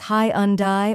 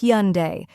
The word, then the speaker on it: Hyundai: the correct pronunciation is hunde it's actually two syllables hun like hu with an n and day like the word day make sure to say